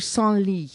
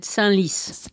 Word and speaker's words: Senlis: And I think that might be said Senlis. Do they pronounce the S? I think so. Well, I never know. Okay. Yeah, Senlis, yes. You never know with the S at the end, so there you go.